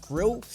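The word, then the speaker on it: Grlj: Now it's spelled G R LJ, but I've been uh I've heard that it's pronounced and Grill.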